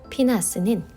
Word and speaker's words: 피느하스: 피느하스는 비느하스의 히브리식 발음입니다.